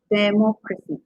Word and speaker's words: democracy: So the third from last syllable, third from last, yeah, democracy.